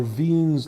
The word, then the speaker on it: Wien: stars is something called Wiens law or viens law that's the german pronunciation and basically it tells